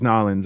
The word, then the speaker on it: New Orleans: Is every time I say New Orleans, and they're like, "Don't pronounce it like that," and I'm like, "Why?" They're like, "It's Nolans," and I'm like, "It's not. It's New Orleans.